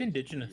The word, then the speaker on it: indigenous: It's indigenous. Yeah. It's indigenous. Indigenous rhymes with delicious.